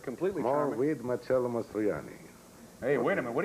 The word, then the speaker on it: Marcello Mastroianni: Marcello Mastroianni.